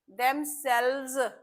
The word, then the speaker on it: themselves: Self नहीं बोलेंगे। Sales बोलेंगे। Them सेल्व्स are sales your सेल्व्स